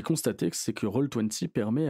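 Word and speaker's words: Roll20: qui s'appelle rôle vinci je le prononce à la française rôle twenty en fait en référence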